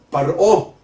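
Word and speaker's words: פרעה: El faraón, o faraó, como se le dice en inglés, y que se acerca un poco más a la pronunciación original, el paró, como se dice en hebreo, se escribe con las letras Pei, Reish, Ein, Hei.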